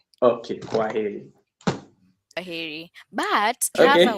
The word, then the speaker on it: kwaheri: In Swahili, we say kwaheri. Kwaheri. No, you know this. Kwaheri. Okay. Yeah, yeah. So I also reply with Kwaheri, Uh-huh. right? Okay, Kwaheri.